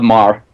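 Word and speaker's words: Meagher: The work of uh Robert EMTT Maher, spelled M E A G H E R. Um, so I couldn't pronounce it until I met him, but Bob Maher.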